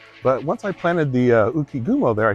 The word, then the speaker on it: Ukigumo: But I added this very cool, this is the, was it Ukigumo? Is that the right way to pronounce that? Ukigumo, yeah.